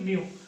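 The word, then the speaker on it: μ: ऐसे कर रखा है, जिसको हम माइक्रो बोलते हैं, म्यू, जिसको हम प्रोनाउंसिएशन के लिए क्या बोलेंगे, म्यू।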